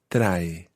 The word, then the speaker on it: trae: Take care with the word trae. It's got two syllables in it. The first is tra, Tra. and then the second syllable is e.